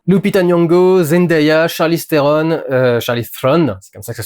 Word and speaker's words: Charlize Theron: Lupita Nyong'o, Zendaya, Charlize Theron, Charlize Theron, c'est comme ça que ça se prononce.